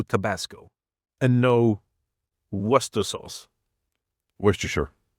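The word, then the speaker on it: Worcestershire: Worstershure or worershire depending on how you want to say it. Yeah. But in Swedish it's worer sauce. Huh. In English it's worester sauce. No, it's not worester sauce. It's worshshire. There's a shire in there somewhere. I'm pretty sure it's worshshire.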